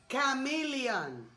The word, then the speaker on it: chameleon: Mira, chameleon, la C de cabrón.